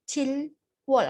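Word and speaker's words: 칠월: Nah, sebenarnya kalau dibaca itu Chilwol karena kalau satu-satu, tapi kan kalau pengucapannya itu agak susah ya kalau Chilwol, Chilwol. Nah, kalau buat orang Korea itu agak susah. Jadi dibacanya itu Chirol, Chirol.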